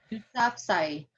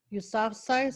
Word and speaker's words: Yousafzai: Mal- Yousafzai.